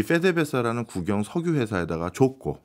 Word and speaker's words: PDVSA: 그 베네수엘라 가다 보면 이제 주유소에 제일 많이 보이는 간판이 PDVSA 그 나라 현지 발음으로 하면 페데베사 이렇게 부르거든요.